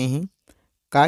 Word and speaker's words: हॉकी: ऐसे ही आप हॉकी शब्द में देख सकते हैं, हा के ऊपर जो चिन्ह लगा है, यह चिन्ह अन्य विशेष ध्वनि वाला चिन्ह है, इसका उच्चारण हम विशेष ध्वनि के रूप में करेंगे, जिस प्रकार से हॉकी।